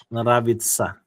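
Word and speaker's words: нравится: So if you observe, I've been able to take this T, then put S-Y-A, sa. So that's why the thing sounded like that. Nravitsa.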